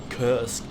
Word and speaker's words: Kursk: Kursk so great, or Kursk. Napalm can't pronounce English names. Well, it's Kursk in German, so whenever there's the possibility for me as a German to pronounce a word in German, I do so.